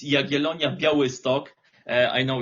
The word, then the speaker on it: Jagiellonia: Uh so the pronunciation is Yagelonia Geto.